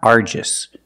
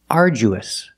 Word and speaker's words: arduous: argis the pronunciation is uous uous and it means very hard uous the DU makes the J sound like jump and Juice arju we use a long oo like food and boot ooh together arju uous